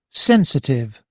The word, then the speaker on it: sensitive: Sensitive, 3 syllables, and the fourth stress is in the first one.